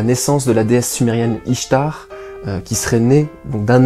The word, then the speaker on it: Ishtar: de la déesse sumérienne ishtar qui serait né donc d'un oeuf qui flottait sur l'eau istar qu'on prononce aussi ai-je tard et qui aurait peut-être